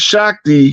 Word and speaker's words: Shakti: It's pronounced Shakti.